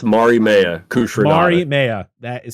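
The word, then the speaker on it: Mariemaia: characters of the character's name yes Mario it's Mari Maya Mari Maya that sounds so simple and I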